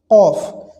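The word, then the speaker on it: كاف: সমস্যা হয় সেটি হচ্ছে কফ কাফ আর কফ এর মধ্যে পার্থক্য হচ্ছে কাফ চিকন আওয়াজে উচ্চারিত হবে আর জিহ্বার গোড়া থেকে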